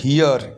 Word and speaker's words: hear: হয় হিয়ার বা হিয়ার, মানে অনেকটা ই এবং এর মাঝামাঝি উচ্চারণ, হিয়ার, HEAR, হিয়ার।